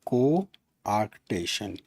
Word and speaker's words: coarctation: cotion means narrowing we'll we'll say it like coarctation a r c p a d i and